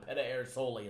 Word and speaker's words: Pedersoli: Pedersoli is how he's supposed to pronounce it.